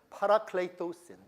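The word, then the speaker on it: παρακληθῶσιν: 그리고 by the way, 여기에 나오는 word 제가 한번 다시 발음을 정확하게 해드리겠습니다. 파라클레이토신, 따라서 해보세요.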